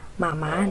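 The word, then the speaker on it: 妈妈: Kemudian selanjutnya ada panggilan untuk mama di dalam bahasa Mandarin. Cara bacanya seperti ini. Mama. Mama. Cara pengejaannya ma. Itu kita baca dengan nada pertama.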